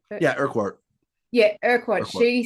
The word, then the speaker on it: Urquhart: Yeah, Urquhart.